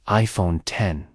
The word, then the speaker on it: iPhone X: the iPhone 8 announcement Apple unveiled the new iPhone x pronounced as iPhone 10 it was released on